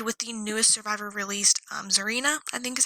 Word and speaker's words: Zarina: We're going to end with the newest survivor released, Zarina, I think is how you pronounce her name.